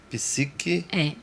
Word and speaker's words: psique: Psique. Ponto Maria Eduarda, que é mudo, psique.